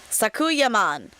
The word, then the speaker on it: Sakuyamon: Sakuyaman. That's how they say it in the anime.